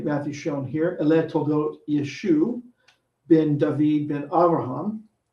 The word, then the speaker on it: Yeshu: Ele Toldot Yeshu ben David ben Abraham. Yeshu is how the Dutele Matthew spells Yeshua, and it mimics the Galilean pronunciation, dropping the final ein sound.